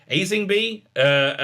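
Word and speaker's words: Aisling Bea: Aislingby. It was it. Aislingby. You don't pronounce the L. Aislingby.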